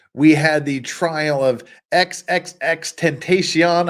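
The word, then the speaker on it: XXXTentacion: Earlier this year, we had the trial of XXX Tentacion. I'm told that's how it's pronounced.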